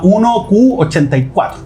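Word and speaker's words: 1Q84: eh Y se llama 1q 84 es 1q porque Q en japonés ya se pronuncia igual que nueve ya entonces 1984 pero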